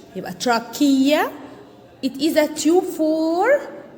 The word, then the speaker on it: trachea: called trachea called tr notice that ch like school ch chemistry also start with ch trachea it is a tube